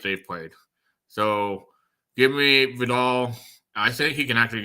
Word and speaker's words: Vidal: And for what it's worth, I went to look at Pro Football Reference, and it's pronounced Vidal. So it's even though it's A at the end, it's still pronounced Vidal.